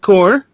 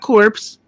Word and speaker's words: Corps: oh the green lantern core not corpse yes even though it's it's spelled that way without the e his name is not